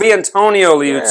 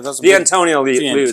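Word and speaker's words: Vitantonio Liuzzi: It doesn't say Valentino. That doesn't say Valentino. Valentino's with an A. That's an I. No. See? Oh, Viantonio Liuzzi. Yeah, sorry. Yeah, Viantonio Liuzzi.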